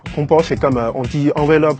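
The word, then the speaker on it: 红包: Hongbao. En français, le H, vous prononcez pas, mais en Chine, H, ça prononce comme R. Hongbao, c'est comme, on dit enveloppe rouge, plutôt.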